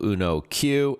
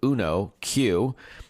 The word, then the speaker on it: Uno Q: These are the folks behind the brand new Arduino Uno Q. It's spelled just as it sounds, U-N-O, and then the letter Q.